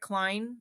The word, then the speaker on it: Cline: And so I'll just highlight Eric Klein, which is spelled Cline, at George Washington University, who's published a number of books that, again, are aimed at a non specialist audience.